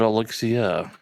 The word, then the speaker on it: Alexia: Alexia Morio like Elixir, but Alexia. Yeah. Elixia.